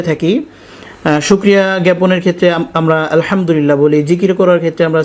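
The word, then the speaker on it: الحمد لله: সেটা কিন্তু হয় না আলহামদুলিল্লাহ এখানে কিন্তু হা কে স্পষ্ট করতে হবে যেটা আমরা আলহামদুলিল্লাহ না বলে আলহামদুলিল্লাহ বলি আর আলহামদুলিল্লাহ যদি আমরা বলি তাহলে সমস্ত প্রশংসা যেটা হয় আল্লাহর জন্য আলহামদুলিল্লাহ বলে সেখানে কিন্তু সমস্ত ময়লা আবর্জনা হয়ে যায় আল্লাহর জন্য এমন অর্থ চলে আসে নাউজুবিল্লাহ এজন্য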